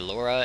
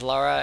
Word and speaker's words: Lara: name incorrectly several times I'm going to say Laura as well as Lara it is L A